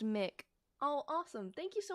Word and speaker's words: Mick: It's pronounced Mick.